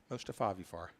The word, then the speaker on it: Mostafavifar: to listen to how the PA announcer would pronounce. Jack says he says that's not funny. Mostafavifar, M-O-S-T-I-F-A, F-A-V-I-F-A-R. Mostafavifar.